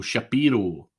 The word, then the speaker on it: Shapiro: I'm not sure where I got Shapiro from, but there you go, Shapiro, that's the right pronunciation.